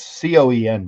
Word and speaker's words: Coen: he is not and it's Coen by the way it's not as ethnically because the the ethnic Cen is how you spell it co hen but he his was Coen but Liam Cohen went